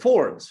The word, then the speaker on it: fjords: i think well fjord fords fjords right but you don't really pronounce the j so i think this